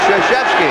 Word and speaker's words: Krzyzewski: It took me 2 years to learn how to pronounce it. Krzyzewski.